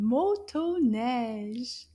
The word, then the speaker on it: motoneige: I think there's two O sounds.